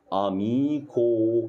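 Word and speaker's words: amico: اهي اميكو اهي صح كو ما قلتش بقى تشي صح ليه عشان هنا بص هنا في الا وهنا في الاو فطبعا مش من الحروف ديت فطبعا تتنطق ايه تتنطق كاف عاديه جدا حلو كده يبقى النهارده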